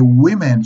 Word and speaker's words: women: and the plural of woman is women ok women so we change to e one woman two